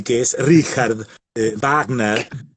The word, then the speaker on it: Wagner: que la la ch se pronuncia como un ajena alemán y que no es richard wagner éste no es warner y que es richard wagner y entonces bueno esta